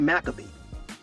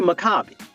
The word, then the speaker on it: Makabi: And Makabi is actually, we really pronounce it's not really Maccabee. It's really Makabi. When you look at the Paleo-Hebrew pronunciation of words and stuff like in letters, Okay. the R sound. So it's Makabi.